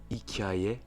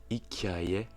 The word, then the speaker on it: hikaye: Dans le mot hikaye, hikaye, qui signifie histoire, on entend un très léger I entre le K et le A.